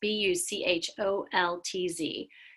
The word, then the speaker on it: Buchholz: So she gives this example of a woman named Mary Buchholz. I don't know if that's how you pronounce her last name. It's Bucholtz, who was doing research in the 1990s at a really racially diverse school in California.